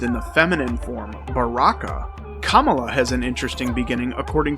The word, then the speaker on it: Kamala: Kamala Harris likes to point out that her name is pronounced Kamala, not Kamala. More like communist than capitalist.